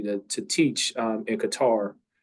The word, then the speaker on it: Qatar: to teach um in Qatar um cutter depending on how you pronounce it uh which was life-changing